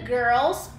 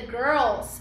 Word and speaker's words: girl: as meninas, when the girls, essa palavra muita gente não consegue pronunciar, girl, girl, né, porque é uma palavra que tem RL, esse som de RL em inglês confunde muita gente.